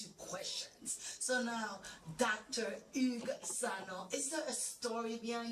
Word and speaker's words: Hugues Sanon: My name is Hugues Sanon. Hugues Sanon. Hugues Sanon. Comment vous prononcez? Hugues Sanon.